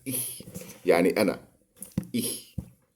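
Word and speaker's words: ich: بالالماني اخ ناخد بالنا هي اخ بننطقها كده اخ يعني انا انا انا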